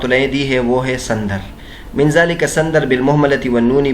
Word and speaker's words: سندر: سندر کا تلفظ فرماتے ہیں کہ سندر سین محملہ یعنی بغیر نقطوں والے سین کے ساتھ ہے، اس کے بعد نون ہے، اور یہ جعفر کے وزن پر ہے.